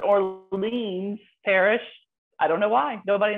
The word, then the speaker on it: Orleans Parish: i want to say orleans parish that's actually right ah brilliant for whatever reason we say new orleans but orleans parish i don't know why